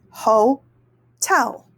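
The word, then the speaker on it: hotel: the second syllable and that is ho tell o tell we have the open syllable for the first syllable and there's no consonant there stopping it or closing it off so we're gonna say the long vowel sound ho and then here we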